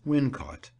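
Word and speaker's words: Wilmcote: is generally supposed that welm cot is the place referred to by Shakespeare in the induction to The Taming of the Shrew as windot the name is locally pronounced in that way as it would be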